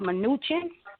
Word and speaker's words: Mnuchin: The man that he picked for the Treasury Secretary, I think his name is Stephen, I think it's pronounced Mnuchin.